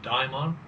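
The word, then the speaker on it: daimon: was coin by Socrates a Damon some people pronounce it a diamon joins your soul joins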